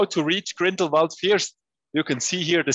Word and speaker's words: First: first but it was fierce it is still spelled like you would spell first like first second third first but then you always pronounce it as fierce and today we remove